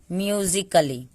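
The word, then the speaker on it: musically: सी को क पढ़ते हैं, डबल एल वाई को ल पढ़ेंगे, म्यूजिकली। यहाँ पे ए का कोई उच्चारण हमने नहीं किया क्योंकि ए साइलेंट है।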